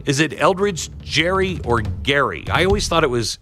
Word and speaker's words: Gerry: So it was actually different than the way his name was pronounced, even though it was named after him.